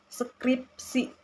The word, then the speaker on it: skripsi: Tantangan dalam pelafalan penutur bahasa Indonesia cenderung menyisipkan vokal skripsi atau skripsi. Itu salah. Yang benar itu adalah skripsi. Jadi bukan skripsi. Setelah P gitu tidak ada yang menggiring vokal S dan P gitu. Jadi mereka itu saling menyatu gitu.